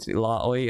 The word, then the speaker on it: Illaoi: to pronounce today so i called it illaoi as well because that's how y actually pronounces it i apologize let's go